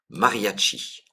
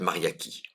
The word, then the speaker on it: mariachi: Et je vais vous préciser, c'est mariachi. Voilà.